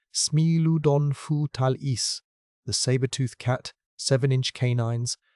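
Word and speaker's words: Smilodon fatalis: And no animal defines the collection like Smeiladon Fatalis, pronounced Smeiludon Fu Talis, the saber-tooth cat, 7-in canines, the body of a bears-sized wrestler, the official state fossil of California.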